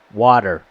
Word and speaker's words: water: accent is wool water water and if you if you listen to how we pronounce water notice that the tea is a soft D it's not a hard tea and a British pronounced